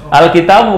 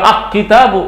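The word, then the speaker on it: الكتاب: enggak bisa aqaru enggak Al bukan aqamaru jelas alkitabu bukan aitab salah jelas namanya Kenapa kok ini dibaca alnya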